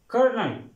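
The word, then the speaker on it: colonel: आर की आवाज देगा यहां पर एल साइलेंट होगा और यह साथ ही आर की आवाज देगा कर्नल कर्नल कर्नल next word है स्टूडेंट्स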